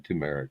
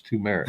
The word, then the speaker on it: turmeric: And like turmeric, I'm never going to put an R in turmeric. It's turmeric. It's not turmeric.